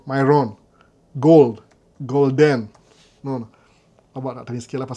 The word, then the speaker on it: Myron: By the way, mu pronounce vibaya saa zingine. Myron. Kama Byron. Myron.